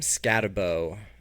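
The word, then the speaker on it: Skattebo: So Cam Scatabo. I've heard people say Scataboo. That's disgusting to me. I'm not doing it until he comes out and says that's how it's pronounced. So I'm saying Scatabo.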